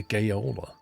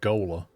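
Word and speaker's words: gaoler: Or is it like gaola or gola? Anyway, a steward opens windows, refuels fires and lamps. Opens windows. That's brilliant. Um, right. All right. What we doing? Pronouncer the same as jailer apparently.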